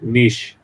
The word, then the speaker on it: Nietzsche: Yeah, Nietzsche. Yes. But we should say it like the the famous philosopher names like niche.